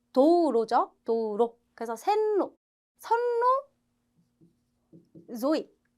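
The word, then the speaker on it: 道路: 자, 로는 짧게 발음하셔야 돼요. 우리 도로도 도우로우 아니고 도우로죠.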